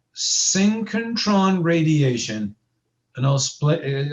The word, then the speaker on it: synchrotron: energy this is called synchrotron radiation and i'll split it i'll spell it for you syncontron s y n c ch syn s-y-n-c-h-r-o t-r-o-n synchrotron synchentron so syncontron radiation is when